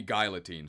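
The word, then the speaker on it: Guillotine: yeah I've been PR I've been pronouncing it wrong it should be guilotine sorry my mistake guys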